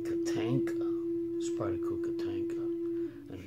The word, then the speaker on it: Tatanka: here spider Co katenka I started mispronouncing it I started calling it Katana but now I got to think make sure it's katenka spry cook a tanka